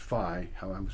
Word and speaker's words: Faye: Even the name Faye, which is pronounced Phi, when I was growing up, I changed the pronunciation because everybody else outnumbered me. I didn't want to correct them the rest of my life. So I became Faye, but the original name was Phi.